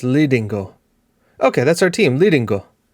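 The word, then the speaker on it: Lidingö: You guys can't hear this pronunciation. Oh, so it's Lidingo.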